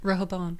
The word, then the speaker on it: Rehoboam: Rehoboam.